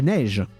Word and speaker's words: neige: La neige, the snow. So neige, E-I, is pronounced the same as the going down accent on the E.